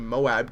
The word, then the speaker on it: MOAB: bringing you guys a MOAB gameplay on the map fallen and yes I finally got the pronunciation correct I said Moab not M like I was calling it before and uh that's all